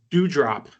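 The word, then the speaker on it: Doudrop: Her name's Dewdrop. It's spelled like D-O-U.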